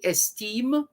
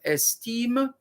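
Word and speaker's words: Estimé: ex-president of haiti museum esteem that's d-u-m-a-r-i-s du mari d-u-m-a-r-i-s you marry esteem e-s-t-i-m-e mussio so this is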